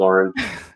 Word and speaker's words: Lauren: Lauren. Lauren's. Yes. Lauren. Nice to Lauren. meet you, Lauren. Lauren. Very important. Lauren. Yes. Lauren. Lauren, just regular Lauren.